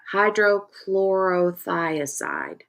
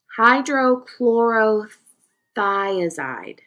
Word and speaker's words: hydrochlorothiazide: Yeah, hydrochlorothiazide. Did I say that right? Hydrochlorothor hydrochlorothiazide.